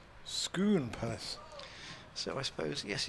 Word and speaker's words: Scone: ah Jake Wilkinson says Scone Palace is not pronounced in either of the two disputed ways of the lovely little baked Jammy cake it rhymes with spoon schoon purse so I suppose